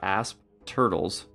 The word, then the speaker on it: Asp Turtle: The cool thing about Asp Turtles... and I'm trying to pronounce that P very strongly so you don't think I'm saying ass turtles, is that they have a pretty good fear effect, and they trample.